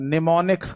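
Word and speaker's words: mnemonics: या फिर है ना इसको बेटा निमोनिक्स कहा जाता है जिसकी स्पेलिंग एम से शुरू होती है।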